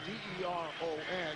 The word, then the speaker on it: Deron: He spells his first name D-E-R-O-N. He says his first name is usually mispronounced. He says the public address guys around the NBA often introduce him as Deron, and says he uses that as motivation.